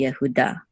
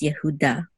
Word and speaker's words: Yehuda: VAV which means and it would be yahuda and of course the accent mark is on da this is the accent right here instead of Judah it's Yehuda but yes this this